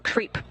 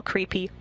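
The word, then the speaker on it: KREEP: They have a weird component that we call creep and it's spelled K R E E P and stands for potassium, rare earth elements and phosphor.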